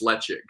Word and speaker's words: Ledaig: Like, why is Ledaig pronounced Lechig?